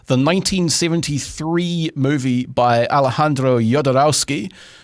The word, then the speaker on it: Jodorowsky: But you were talking about the 1973 movie by Alejandro Jodorowsky. I'm guessing that you pronounce the J like that in his name.